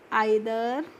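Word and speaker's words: either: ई आई टी एच ई आर को हम पढ़ेंगे आइदर।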